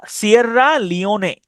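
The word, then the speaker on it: Sierra Leone: তাহলে সিয়রা সিয়াররা লিওনে। সিয়াররা লিওনে এস আই E double R এ সিয়াররা এল ই ও লিও এন ই নে লিওনে ঠিক আছে অথবা সিয়রা লে ওয়ান এভাবে আপনি উচ্চারণ করতে পারেন সিয়রা লে ওয়ান এলই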